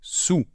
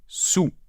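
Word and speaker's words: soûl: En tout cas, ce mot doit se prononcer « sous ». Je suis sous. Donc, on ne prononce pas de « L » final, et on peut l'écrire par contre de deux façons, d'accord?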